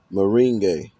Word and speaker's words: merengue: It's a hard one for me to pronounce. Merengue.